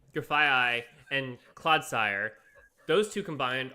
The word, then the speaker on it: Grafaiai: Oh yeah, you could do that, but Grafaiai is like if you get two of them on your bench, you have two coin flips to poison.